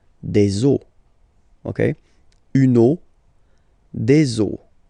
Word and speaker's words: os: but then same rule, you don't pronounce it. Des os.